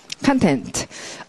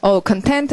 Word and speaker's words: content: 자, 소리 읽으시면, content. content 하기도 하고, content 하기도 하고, 발음이 두 가지죠? 예, 발음기 제대로 되어 있습니다. 형용사일 때는 content라고 읽고, 명사일 때는 content.